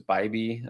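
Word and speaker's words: Bibee: I would go Wu, and I did just talk about Tanner Bibby or Bybee. Someone said it was Bybee. That doesn't make sense phonetically to me, but that doesn't mean it's not true.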